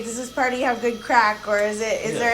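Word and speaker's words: craic: oh she's got good crack and they actually spell it what do you mean by christmas c-r-a-i-c crack like oh like craig craig she's got good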